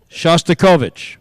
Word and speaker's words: Shostakovich: Shostikovic. That's incorrect. Oh, man. Although I wish there was an E for effort. The correct pronunciation of Shostakovich is Shostakovich.